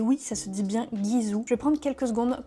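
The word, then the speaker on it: Gisou: prononce comme je veux si vous avez envie de prononcer Jizou faites-le il y a pas de souci mais sachez que ça se prononce bien guizou parce que ça je l'ai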